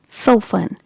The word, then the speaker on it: soften: Now this word is soften. Letter T is silent here. So how will you pronounce it? Soften, not soften.